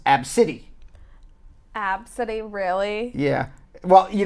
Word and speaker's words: ABCDE: said that she and young ABCDE and it's pronounced AB City absolutely really yeah well you know what that's